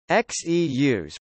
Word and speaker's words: Xeus: Xeus, pronounced Zeus, is a vertical landing, vertical takeoff lunar lander demonstrator.